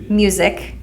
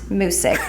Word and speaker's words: Musick: Today we have on Musick. Yes. Not Musick, that I was incorrectly pronouncing prior to this podcast.